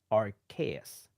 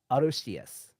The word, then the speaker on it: Arceus: The Hmm. Japanese name is actually Arceus, which sounds more like Arceus. And the only Mm. reason why they've gone with Arceus instead of Arceus is because Arceus sounds like arse, which our our friends